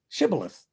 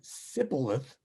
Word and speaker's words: Shibboleth: If he replied no, they said, "All right, say Shibboleth." And if he said Sibboleth, because he could not pronounce the word correctly, they seized him and killed him at the fords of the Jordan.